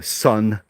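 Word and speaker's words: Seon: Um the the main form of Buddhism here is uh sun, which is the Korean pronunciation of of Zen.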